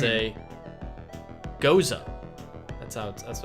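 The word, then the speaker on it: Gose: It's and I looked up the pronunciation of this before we started, Zach. It's a Goza. That's what it's called. A Goza style ale, brewed with watermelon and sea salt.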